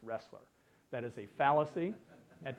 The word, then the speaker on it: Roesler: choose the acronym because my last name is pronounced wrestler that is a fallacy